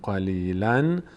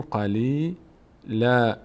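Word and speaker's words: قليلا: اینجا اگر وصل نکنیم اگر وقف بکنیم ثمنا قلیلا دیگه نمیگیم قلیلاً میگیم قلیل لا این نون آخری رو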